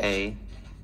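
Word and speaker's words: hej: Sweden how do you say hi in Swedish hey oh just hey yeah hey no is nay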